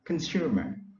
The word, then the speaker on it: consumer: a strain of liner so the stress is on the second syllable room so we pronounce consumer it is a noun militant